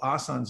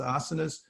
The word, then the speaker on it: asanas: is actually historically asanas that we people call asan's nowadays it's actually pronounced asanas but they're these are a place where you